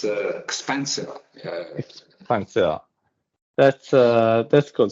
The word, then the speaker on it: XPANCEO: uh it's uh um how is the correct pronunciation of the company expansio expansio what's the correct so it's expensive expensive that's uh that's good so I don't